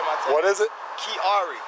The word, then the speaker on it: Kiari: How you spell that? And what's your first name, Mr. Kiari. You already read my tags. What is it? Kiari.